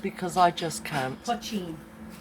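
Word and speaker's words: poitín: Right, do you want to say how it's pronounced? Because I just can't. Pochine. Pochine.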